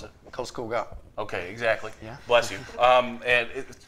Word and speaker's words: Karlskoga: How do you pronounce it? Karlskoga.